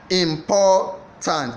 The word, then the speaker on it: important: Important. Is it A. Important? Is it B. Important? Is it C. Important? The answer is B. It is the important. The B is the stressed syllable.